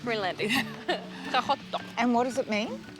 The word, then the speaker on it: Qaqortoq: So how do you pronounce the name of this town? It's a bit difficult. Qaqortoq. Qaqortoq. Yeah, it's the best I can do. Yeah. Being Danish, not Greenlandic. Qaqortoq.